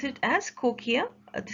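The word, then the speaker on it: cochlea: and to the inner ear by cochia we pronounce it as cochia the spelling is written on the screen c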